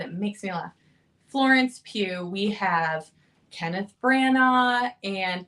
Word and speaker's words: Pugh: Jr., Emily Blunt, Florence Pugh. Thank you. I never say it right. I always want to say Pug. And I know that's not it, but it makes me laugh. Florence Pugh.